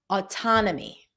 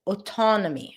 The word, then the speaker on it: autonomy: So, you can think of it as a or a little bit more rounded like a autonomy. Okay. But it's not O autonomy.